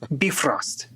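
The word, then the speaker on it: Bifröst: biggest difference is the the bifrost itself um and that one is is it would be pronounced a lot closer to beef roast you know beef Ro be frost or be and and so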